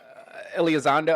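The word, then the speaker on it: Elizondo: We're getting Steven Greers and uh Elazando. I forget how you pronounce his name. Um but he's Alzando.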